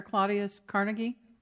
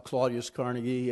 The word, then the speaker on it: Claudius Carnegie: Claudius Carnegie I apologize I may have mispronounced that you did perfect being a university professor I give you an a-plus my name is dr. Claudius Carnegie and I represent SeaTac